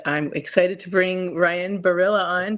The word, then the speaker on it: Berilla: excited to bring Ryan Barilla on. Tell me if I'm pronouncing your name correctly. Pronounced it perfect. First try.